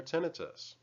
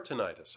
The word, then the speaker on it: tinnitus: chirping and people oftentimes find relief from their tinnitus or tinnitus actually both pronunciations are correct and then there are instruments